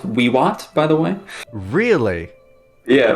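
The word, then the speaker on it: vivat: It would be pronounced Wiwat, by the way. Really? Yeah, well, all V's in Latin are pronounced as W's if you want to get technical.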